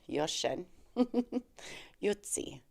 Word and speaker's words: Jochen Jutzi: eastern time zone matchup against Yen chuchi utti yutti um I did a little research on how to say his name yosen yosen yutti uh or you can say juty but it's a German name so I do believe